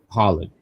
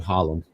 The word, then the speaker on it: Holland: week uh you know you said R Holland's name wrong you meant to say Ridge Justice Holland Holland I said hollum I'm thinking about hlem folks Holland that's the name George says Alexis didn't